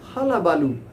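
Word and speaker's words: hullabaloo: so it is written as but it is pronounced as halabaloo hala means jamaila in hindi it is called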